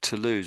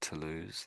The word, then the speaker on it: Toulouse: other words that you I think your pronunciation was of to lose was very good I like that to lose that's that's how we say that to lose any other words